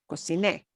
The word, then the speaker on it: cociné: Cociné. And you punch the e at the end more. That's why it carries an accent mark. Lleva acento, it carries that little accent there. Cociné, hablé, canté, I sang,